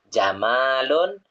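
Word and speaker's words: جَمَالٌ: Karena kalau mimnya panjang, itu jamalun, itu artinya indah. Tapi kalau mimnya pendek, jamalun, onta. Gitu ya. Kalau anta jamalun, kamu indah. Tapi kalau kalau anta jamalun, kamu indah.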